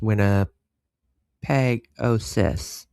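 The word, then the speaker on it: Winnipegosis: It's pronounced winner peg ois. Perfect.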